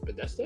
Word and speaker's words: Bethesda: Is it Bethesda? Sorry, Bethesda. It's Bethesda. Yeah. Oh my god, my pronunciation is pretty bad.